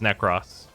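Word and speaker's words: Nekros: everyone is like haha you say neck Ross and it's like you mean the thing that the devs say the thing that's in the Prime trailer for The Prime Warframe his name is necross I just call him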